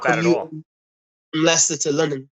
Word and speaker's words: Leicester: How do you pronounce it? Leicester.